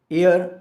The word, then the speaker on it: heir: है उसका शिकार है हेयर उत्तराधिकारी जहां पर एक्स साइलेंट रहेगी हम इसे शेयर कर